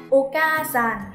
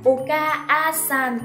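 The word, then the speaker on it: お母さん: sẽ kéo dài ka ra thêm một nhịp, đọc là Oka-san, không đọc là Oka-a-san các bạn nha.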